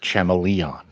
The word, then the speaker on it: Chameleon Boy: out what's going on it's actually pronounced chamon yeah whatever um but